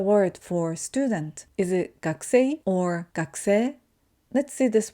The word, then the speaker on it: 学生: So instead of saying 学生, we say 学生.